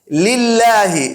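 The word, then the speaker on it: لِلّٰهِ: একটু মোটা করে বলি লিল্লাহি লামটাকে পাতলা করে বলি এইরকম করে কিন্তু বাংলায়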